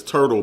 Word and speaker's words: Hudl: say his last name Hudl I heard it I heard it's like portal but it's it's like this no it's like if you said Turtle it's Turtle but with a p